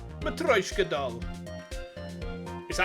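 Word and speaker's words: matryoshka: to open all the layers of a m matka doll is that how you pronounce it m or is it matrioska I don't speak Russian I don't speak any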